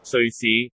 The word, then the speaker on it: 瑞士: 광동어 발음으로 들으면 어떻게 될까요? 瑞士 스위스, 스위스 비슷하죠?